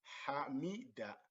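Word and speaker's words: حمد: So in this case, we have the word hamida, hamida. Ha, the letter ha has the fatha, mim has the kasra, so mi, hamida, hamida, hamida, hamida.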